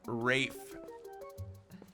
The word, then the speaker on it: Rafe: Pronounced like rage, but with an F. Rafe.